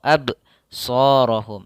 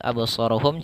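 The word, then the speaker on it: أبصارهم: tidak ABS absorohum atau AB shohum akan tetapi pada lafal absorohum cara membacanya yaitu dengan memantulkan seperti berbicara saja abso tidak abso tidak ada tambahan huruf hamzah tidak ada AB tapi lihat abso abso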